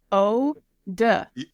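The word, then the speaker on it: eau de: e a u d e how do you pronounce that it's o d like o de par OD okay OD dumpster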